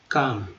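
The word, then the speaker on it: calm: निश्चल यानी कि काम, काम, तो एल जो है यहाँ पर साइलेंट है, काम।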